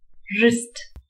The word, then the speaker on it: wrist: pepper rat parrot wrist இதுல w silent letter wrist rhyme இதுல h வந்து